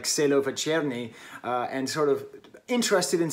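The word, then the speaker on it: Čelovečernji: This year I reviewed, okay, how do I pronounce this damn thing? Celovecernji the Kid.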